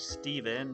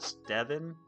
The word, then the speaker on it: Steven: My name is Steven, not Stean or Stan.